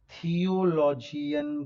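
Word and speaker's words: theology: पे आ गया लजी, साथ में प्रोनाउंस करूं तो इसे कहेंगे थियोलॉजी। LOGY जो होता है वो लजी प्रोनाउंस किया जाता है, लजी। यानी कि आप उसे बायोलॉजी नहीं कहते हैं, बायोलॉजी नहीं कहते हैं।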